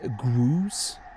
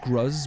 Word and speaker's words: Gruz: pick it off um pronunciation I believe is grus not gruz but grus okay I mean okay